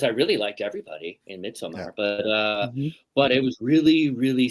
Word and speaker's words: Midsommar: Well, we're going to say Midsommar because he put the damn A in there, so we might as well use it.